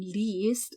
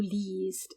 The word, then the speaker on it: liest: By the way, that I-E in liest is pronounced like a long E. Du liest.